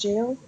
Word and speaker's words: gaol: I mean, jail is still pronounced jail? Oh, okay. Because how it was spelled.